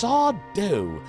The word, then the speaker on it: Sardo: And then Sardo, who just kept appearing in like every other episode, like, it's Sardo, no mister, accent on the dough.